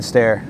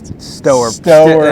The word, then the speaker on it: Stoehr: It's Stoehr. And that's Stoehr.